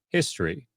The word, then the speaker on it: history: This is because the accent or emphasis in the word history is on the first syllable.